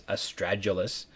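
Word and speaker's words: astragalus: over the span of this podcast, but it's estragalus.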